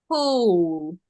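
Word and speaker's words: whole: very good on the hole ho W is silent yes on the hole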